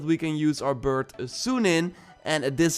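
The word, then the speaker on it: Sýnin: And Ashraf also notes that we can use our bird Sunin, and this is how you pronounce it, by the way, to distract enemies and then maybe sneak past them.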